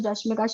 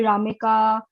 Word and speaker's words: Rashmika: with a Japanese client, she still can't pronounce my name as Rashmika. She calls me Ramika, Rashma, whatever she wants.